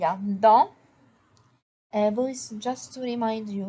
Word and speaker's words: dans: Dans un cartable, il y a dans. Boys, just to remind you, le S à la fin en français n'est pas prononcé. The S at the end in French is not pronounced. So we say dans.